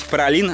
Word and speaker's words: Праслин: И, собственно, остров Пролин, правильно говорить Пролин, а пишется Прослин.